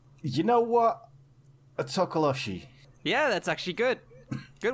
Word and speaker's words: tokoloshe: that are listening um it's pronounced tokoloshi tokoloshe or mo locally as a tokolosi if i could just